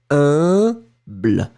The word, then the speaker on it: humble: So remember that pronunciation of U and M together, it's a nasal, like in parfum.